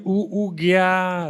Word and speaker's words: OoGyaa: For your company, OoGyaa, right? Am I pronouncing right?